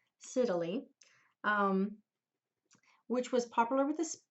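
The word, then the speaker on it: scytale: used something called the I always said it wrong but it's Italy Siddalee which was popular with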